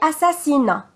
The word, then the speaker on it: assassinat: vente égal et l'égalité le suffixe hat a t on ne prononce pas le thé à la fin comme par exemple assassiné assassinat il y a le